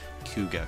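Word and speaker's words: Kouga: chupu and I know I want to say cuga Clan or something along those lines but it's coua Clan k u g interesting now now another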